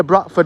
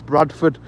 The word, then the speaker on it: Bradford: just so people I I used to say Bradford like that but because of the streamers uh some people I'll say batford and some of them will spell it in the uh comment and they put a question mark and I'll say no it's Bradford because I've said Bradford correctly uh since I've been streaming I've actually managed to be able to say it properly now I'm saying it with the D pause don't you get